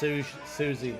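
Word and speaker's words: Siouxsie: That's pronounced suzie in the banshees, just so you know.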